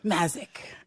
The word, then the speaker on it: Mazyck: I emphatically demanded that she rephrase that pronunciation to the correct one. Mazyck.